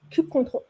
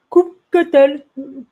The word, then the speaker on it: kubectl: Alors, petit disclaimer, chaque personne dans ce monde a sa propre façon de prononcer la CLI. Kubectl, kubectl, kubectl. ne vous prenez pas la tête et le plus important est de l'utiliser. Kubectl est une CLI, un